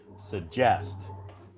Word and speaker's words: suggest: the big bubble so the big bubble represents where the the stress is on this word on a second syllable so we would pronounce this word suggest wow lovely I have